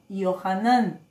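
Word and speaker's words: יוחנן: nadie se llama juan saben cómo se dice en hebreo juan yohanan así le decían a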